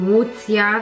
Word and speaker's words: Łucja: No tak samo jak chodzi o wymowę, no w niektórych krajach nie powiedzą Łucja, tylko powiedzą właśnie najprędzej Lucja.